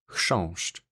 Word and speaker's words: chrząszcz: It is pronounced as chrząszcz.